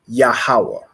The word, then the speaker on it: Yahawah: another word I want you to get is yahawah so ya a ha a w a h